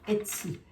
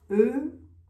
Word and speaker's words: Etsy: Etsy. E-T-S-Y. Si je prononce bien.